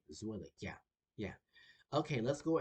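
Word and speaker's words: Zwilich: Yeah, think of it as Zwillig, like the name Zwillig. Yeah, her name Zwillig.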